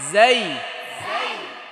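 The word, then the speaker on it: زاي: র র র পরে জাই এই হরফটার নাম কি জাই ধরেন উচ্চারণ করেন জা জা জা বাতাস বের হবে নাকি জা জা জা জা জা জা জা জিজি পোকার মতো একটা আওয়াজ হবে কেমন জা জা জা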